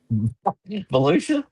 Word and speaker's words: Volusia: How do you pronounce that one with the V? Volusia.